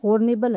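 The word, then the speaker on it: honourable: क्योंकि यह हॉर्नेबल है, इसमें जो एच है ये क्या है? साइलेंट है, लेकिन इसका उच्चारण करते समय किसका उच्चारण होता है? इसमें होता है आ का उच्चारण होता है जो कि एक वोवल साउंड है।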